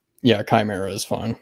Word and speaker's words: Chimera: Yeah, Chimera is fine. Chimera. Okay. Yeah, it's funny. Everybody pronounces it differently, and I just stopped correcting people after a while.